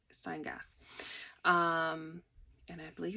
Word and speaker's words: Steingass: So the Jennifer Steingass sweater, let me pronounce it proper, Steingass.